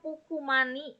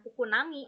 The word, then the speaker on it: Pukumani: kalau AG tadi betul pengucapannya pukumani ya bukan pukunami Oke kemudian saya mendengar